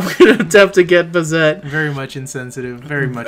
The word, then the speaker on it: Bazett: get man mcleer AKA Bez I'm pretty sure I pronounced that completely wrong you did uh butcher let's move on it's bazette we don't need to try